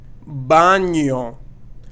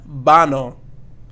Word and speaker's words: baño: Baño and not bano, but baño. We need to make sure that we are saying our letters with tildes correctly. So in this case, we have the N here with the tilde. So that's going to be that ñ, baño sound.